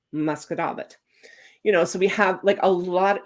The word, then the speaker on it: Musquodoboit: way it's spelled, is Musquodoboit. And it is spelled mosquito bit, but it is pronounced Musquodoboit.